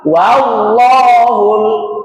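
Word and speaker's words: والله: Pengucapannya terbuka. Fathah kan artinya terbuka. Wa wallahul wallahu. Jangan dirubah jadi o. Wallah.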